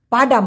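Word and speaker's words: padang: যায় এমন বলতে গেলে পাডান কথাটি বলতে পারে আরেকটা আছে পাডাং পি এ ডি এ এন জি উচ্চারণটা হবে পা ডাং এই পাডাং মানে কিন্তু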